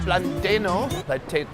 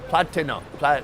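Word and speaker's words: plátano: You can get 2 choriquesos plus 1 leche con plantano. Platano.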